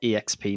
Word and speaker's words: EXP: avocade exp yeah and that's actually how it's pronounced according to the video as well exp not experience yeah right i think